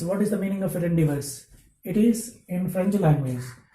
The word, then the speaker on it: rendezvous: Rendezvous. Here the spelling is given Rendezvous. Rendezvous. It is not a rendezvous. Z is silent here because it is a French word.